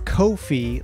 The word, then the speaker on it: Ko-fi: Kofi and it's is it is Kofi like no fee because they charge no